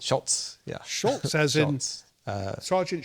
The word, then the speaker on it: Schultz: wanted to know the stories now, is it pronounced behind the Schultz or Scholes? It's Schultz, yeah.